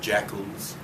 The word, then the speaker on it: JACL: people were called either jackals, JACL, Japanese American Citizens League. The initials JACL could be pronounced jackal when you pronounce that, or inu, the Japanese word for dog.